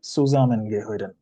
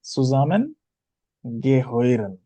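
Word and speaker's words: zusammengehören: সুজামেন গেহইরেন। হ্যাঁ, উচ্চারণটা কি?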